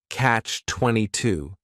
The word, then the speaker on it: catch-22: of my favorites, is catch-22. This is 2 words. It's a compound noun. The word catch is just 1 syllable, and then 22 is 3 syllables, and the stress is on that final syllable, catch-22.